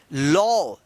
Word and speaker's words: law: LAW, देखिए यहां पे फिर ए के बाद क्या आया है, W आया है, तो इस ए का औ उच्चारण होगा। तो इसको क्या पढ़ेंगे, लॉ, लॉ मतलब होता है कानून।